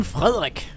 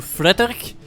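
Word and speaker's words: Frederik: But here comes Captain Frerik. That's how we would pronounce it in Danish at least. Um, I know that uh in German parliaments as well as English you would default to Frederick or something like that or Frederick, but uh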